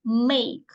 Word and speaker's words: make: а з іншою буквою так що у нас тут не читається Ось ця буква Да вона мовчить буду незрозуміло та в кінці мовчить Зате ось це читається так як в алфавіті це сама перша буква